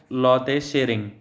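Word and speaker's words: Lotay Tshering: यहाँ पे T silent है तो इनका नाम है लोते शेरिंग।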